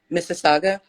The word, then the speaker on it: Mississauga: I don't want to mispronounce it did I pronounce it cities yeah you did Mrs Saga yep Mississauga so it's interesting because some of the like